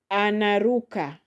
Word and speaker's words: anaruka: Then we have anaruka. Anaruka. Anaruka has four syllables. So the second from the end is ru.